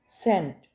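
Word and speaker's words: scent: thumb अंगूठा ठीक है थंब तो यहां पे बी साइलेंट है ठीक है थंब अंगूठा हाथ का अंगूठा नेक्स्ट है सेंट सेंट इसमें एस साइलेंट है सी एन टी सेंट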